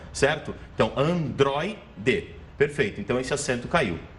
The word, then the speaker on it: androide: Vamos lá, separando sílaba, Android. Aí você tem o ditrongo oi, de como última sílaba. Então é uma palavra paroxítona, ou seja, uma palavra em que a penúltima sílaba é a sílaba forte, é a tônica, certo?